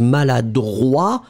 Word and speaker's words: maladroit: pronounce it slightly differently because maladroit, masculine, final T not pronounced. And then feminine form, maladroite, t, you will pronounce it. D'accord? So maladroit, masculine, maladroite, feminine form.